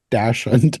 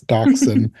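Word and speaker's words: Dachsie: the Stray male doc I always want to say Dash because of the way it's spelled but it's docen um he voiced the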